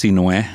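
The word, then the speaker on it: Sinuhé: My first name is spelled Sinhue, and it's pronounced Sinue. It's an Egyptian name, so Sin's the first 3 letters of my name.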